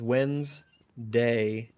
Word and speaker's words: Wednesday: english spelling change uh letters appear in word spelling but not in pronunciation i don't care it's